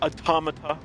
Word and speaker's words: Automata: guys are into Nier automata or automata as some people pronounce and some super hard